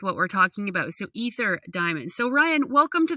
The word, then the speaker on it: Aether: ceo of aether diamonds did i say that right ether diamonds ether diamonds cool okay but it's spelled a e t h e r uh if you're looking